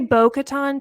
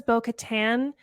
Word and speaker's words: Bo-Katan: out like that yeah I always say bocaton too but she says Bo Katan okatan and I also